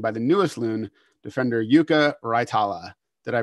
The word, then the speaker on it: Jukka Raitala: to be joined by the newest loon defender yuka raitala did i pronounce that okay couldn't be better that's correct